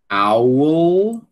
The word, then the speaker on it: owl: All, bill, owl, ó, owl. E tem que pronunciar o lã, certo? Owl. Veja que tem um sonzinho aqui entre o U e o L, né?